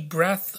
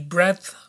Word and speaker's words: breadth: breath I I believe I can't really pronounce the d that well there but but anyway uh